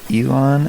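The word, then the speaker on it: Elan: oh dang recording okay to the oxford dictionary online it's pronounced elon elon yeah then it should be spelled with an a no that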